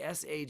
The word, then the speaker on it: Schwung: So that's the word schwung. Spell it like you like. Put a C, silent C, not a C. Schvung from the word schwing, which I think in the English became swing.